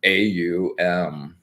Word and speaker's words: AUM: sounded in this 3-letter AUM. Yeah. And it's pronounced like you're going up to oh, so it's an oo rather than an o.